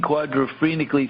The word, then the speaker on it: quadrophrenically: No, not phenically, phrenically. have to lean quadrophrenically through the leading edge to help balance the vortex.